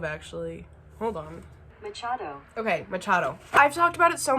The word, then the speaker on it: Machado: I also never fucking look up how to pronounce it. That's a really asshole move, actually. Hold on. Machado. Okay, Machado.